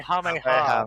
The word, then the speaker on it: Kamehameha: Kamehameha. Kamehameha.